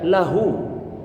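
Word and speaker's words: له: Maka bacanya lahu.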